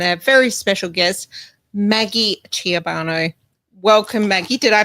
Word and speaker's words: Ciobanu: And did I pronounce that correctly? Ciobanu, yes. Oh, Ciobanu. Ciobanu. Yep. Oh, yeah, it needs an accent. Ciobanu. Yes, it's very European.